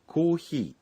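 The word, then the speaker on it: コーヒー: Coffee শব্দটির জাপানি উচ্চারণ コーヒー চা হচ্ছে 紅茶 কোনটা বেশি পছন্দ এই কথাটি বলতে হবে।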